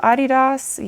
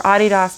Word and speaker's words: Adidas: So, if you think I'm pronouncing it wrong, no, I'm just not pronouncing it American cuz it's a German company.